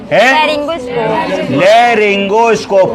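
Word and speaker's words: laryngoscope: लेगोस्कोप लेरिंगोस्कोप। क्या spelling है?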